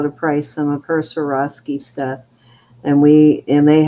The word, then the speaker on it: Swarovski: to come up for auction during the playoffs Swarovski am I saying it right yeah I have three Bangles that are cute or off ski Swarovski I have this cute little I don't know